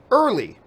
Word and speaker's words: Early: wanted to say that my surname is pronounced early well there we go I